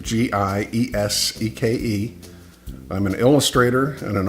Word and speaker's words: Gieseke: That's how you pronounce it, Gieseke.